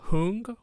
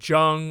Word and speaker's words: Jung: of introversion and extraversion was devised by Carl hoon or his name often gets pronounced different ways you may even hear Carl Jung or Carl Jung Karl whom either way it